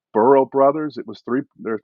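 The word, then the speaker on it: Brough: it's I don't give the pronunciation right it's bural Brothers it was three there three brothers in Louisville Kentucky who have started their own line of bourbon terms of huh burrow Brothers yeah yes yes I think it's burrow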